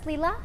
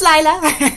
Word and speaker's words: Laya: Leela. Hi. Hi. Is it Ila? Ila. It's Laya.